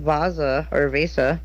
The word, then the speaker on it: Vasa: Sigmund III of House of Vasa is crowned King of Sweden, succeeding his father John III of Sweden. Huh. So Sigmund III of Vasa. Vasa, I believe, is the correct pronunciation.